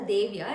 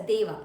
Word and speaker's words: देव: So first one is a Deva. You pronounce a Devya. It's a Deva.